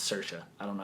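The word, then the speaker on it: Saoirse: s a o i RS e and it's pronounced cersa I don't know how the hell you do that but okay um it it looks good cersa ronin's A great actress um anyway next category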